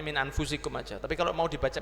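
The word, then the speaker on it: أنفسكم: Makanya diingatkan, laqad ja'akum rasulun min anfusikum, boleh min anfasikum boleh dibaca, tapi tidak usah gaya ya. Kalau kita bacanya min anfusikum aja, tapi kalau mau dibaca min anfasikum boleh.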